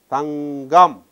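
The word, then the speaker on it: தங்கம்: Here a hard sound preceded by a nasal becomes soft.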